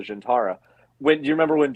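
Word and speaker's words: Zhian'tara: they did mention the they mispronounced it they called it like the the zintara or something when it's in ds9 it was called the gentara when do you remember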